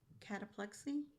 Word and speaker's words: cataplexy: I saw that that cataplexi, is that how you pronounce it?